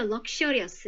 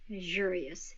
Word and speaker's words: luxurious: 아까도 저희가 배운 바와 같이 요 X 소리가 요 Z 사운드 나올 수 있다라고 말씀을 드렸어요. 자, 그래서 얘는 소리를 어떻게 내는 게 좋냐면 일단은 발음기호로 갔을 때 lug 하고 띄고 그 다음에 luxurious 이렇게 연습하시는 게 정확해요.